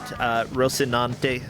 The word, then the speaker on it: Rocinante: Let me make sure I pronounce it right. Rocinante, if I'm not.